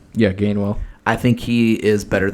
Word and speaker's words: Gainwell: think how do you say his last name gamewell yeah gainwell i think he is better than boston scott